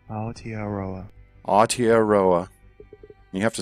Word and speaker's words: Aotearoa: Oh, he links to the pronunciation. Oh, it's a YouTube video. Aotearoa. Aotearoa.